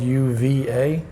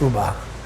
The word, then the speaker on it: uva: spanish is called the uba and it's one of those ones where it's spelled u v a so most americans would go uva you know like virginia ba but it's pronounced uba and it's a grape